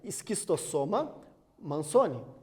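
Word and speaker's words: Schistosoma mansoni: A pronúncia é esquistossoma mansoni.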